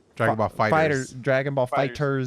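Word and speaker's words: Dragon Ball FighterZ: Dragon Ball Fighters. Dragon Ball Fighters. Fighter Z. No, you don't pronounce the Z apparently. Fighters. Of course. It's just fighters.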